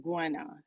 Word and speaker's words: Gwenna: It's pronounced Gwenna, like Gwen and then A, Okay.